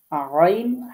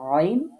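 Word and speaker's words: ع: আর আইন হা এটা যখন উচ্চারণ করব তখন আমাদেরকে চেপে ধরতে হবে। গলাটা একটু চেপে ধরে উচ্চারণ করতে হবে।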